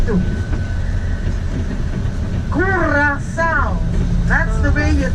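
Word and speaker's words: Curaçao: Curacao. That's the way you pronounce the name of this island.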